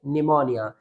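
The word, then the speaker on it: pneumonia: और यह वर्ड जो है पी एन से स्टार्ट हुआ है। तो इस कंडीशन में भी पी साइलेंट रहेगा। अर्थात इस वर्ड को हम प्रोनाउंस करेंगे निमोनिया।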